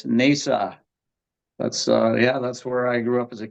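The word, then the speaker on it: Hnausa: I can't quite pronounce the other one like Natasha or Nasha or whatever? You would have to come from Icelandic roots to be able to pronounce that one. It's Nesa.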